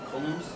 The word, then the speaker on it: coulomb: I looked up how it's supposed to be pronounced. Have you heard it Coulomb? No, but it looks like column. Yeah, I looked it up and it said Coulomb. Coulomb.